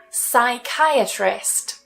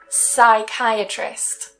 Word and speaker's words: psychiatrist: with our first rule words that typically start with P S Y have a silent P and that first part is usually pronounced as sigh I for example psychiatrist so we don't try and say the P psychiatrist psychic psychic psychology